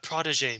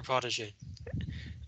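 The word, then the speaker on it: protégé: so that's what uh protege means it's french it's french so the g is pronounced and it's her former protege um so she's receiving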